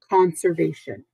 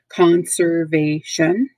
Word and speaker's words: conservation: conserving it saving it conservation four syllables there you can see the emphasis on V conservation conservation of animal habitat